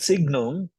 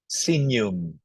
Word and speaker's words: signum: but judiciales ustus justum not Signum because G and N pronounce as n senum and then Persona okay